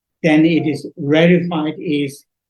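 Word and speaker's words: reified: understand my uh pronunciation accent then it is rified is H spelled like this r e i f i e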